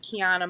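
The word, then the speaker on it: Qiana: on my Facebook page my name is author Keana the same spell q i a n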